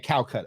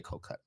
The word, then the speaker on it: Kolkata: So I I was saying Kolkata. She said no we say Kolkata.